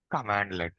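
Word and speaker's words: cmdlet: We need to pronounce it like commandlet.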